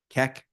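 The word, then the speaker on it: Keck: Kek. Spell that again.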